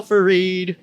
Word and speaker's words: Fareed: Joe Fareed. That's how you pronounce it, right? Fareed?